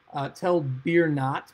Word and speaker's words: Tel Burna: map, we have here Tel Birnat, which is just an alternate way of saying Tel Bornat, or as it is spelled in Hebrew, Tel Borna.